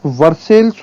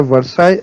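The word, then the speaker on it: Versailles: यहाँ पर आप वर्सेल्स और सेवरेस लिखा हुआ देख रहे होंगे, बट इनका राइट प्रोनाउंसिएशन है वर्साई एंड सेवरे, और ये दोनों ही शहर हैं फ्रांस के।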